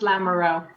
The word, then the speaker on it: Lamoureux: it's fine it's hard it's pronounced lamoureux Lamoreaux that it's just hard to come it's hard to come out of my mouth there's old